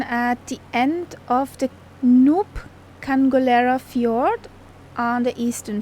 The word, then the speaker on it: Nuuk: Not Nuuk. Nuuk. Come on. Nuuk. Get that word right.